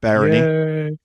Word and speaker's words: Barony: me for Barony that's how you say it Barony yeah and uh yeah so check out Dave